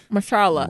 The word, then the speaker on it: Mahershala: Mahershala Ali won too for the Green Book. Who? I didn't say his name right. Mahershala Ali.